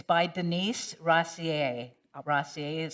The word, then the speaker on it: Rosier: And it's by Denise Rossier. Rossier is spelled Rosier.